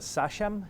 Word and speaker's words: sachem: He was a sachem? Is that how you pronounce it?